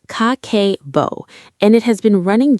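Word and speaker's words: Kakeibo: It's called Kakebo, pronounced Kakebo, and it has been running Japanese households since 1904.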